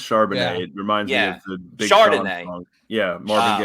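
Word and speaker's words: Charbonnet: UCLA running back Zach am I pronouncing his name right uh Chardonnay I believe it's charbonne it reminds me yeah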